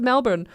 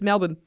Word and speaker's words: Melbourne: It's like when you read it and you're like, oh, that's Melbourne. But then everyone's like, no, it's Melbourne. It's Melbourne. It's Melbourne, mate. Mispronouncing it.